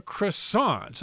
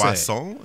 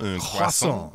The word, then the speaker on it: croissant: And it's called the croissant. I'm using the American pronunciation there.